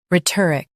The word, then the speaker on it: rhetoric: Ret, ik, rhetoric. Emphasize ret and keep or light.